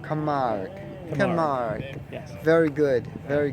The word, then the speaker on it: Camargue: Pronounce the name of the car again, please. Camargue. Camargue.